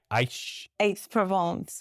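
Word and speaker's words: Aix-en-Provence: And he said he nearly gave away the address that he was living in Paris, or I couldn't even pronounce it. AIX? Aix-Provence.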